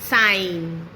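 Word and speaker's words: sign: जब एन से पहले जी आएगा तो जी हो जाएगा साइलेंट, जैसे रिजाइन, साइन, डिजाइन।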